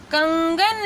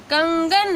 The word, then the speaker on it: कंगन: तो ये यहाँ पे म का साउंड है और यहाँ पे न का साउंड है, कंगन, ठीक है।